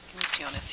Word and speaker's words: Orquesta Ilusiones: Okay, next is, how do you pronounce Orquesta? Orquesta. Ilusiones? Ilusiones, yes.